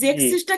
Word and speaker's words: sechs: hm, sechs জিক্স না, জেক্স।